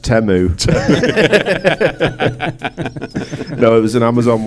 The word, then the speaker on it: Temu: them yeah you got it from Texas it's pronounced temu no it was an Amazon one by the